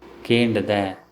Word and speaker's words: kendada: Kendada, I have asked. In spoken Tulu, kendada is pronounced as kenda.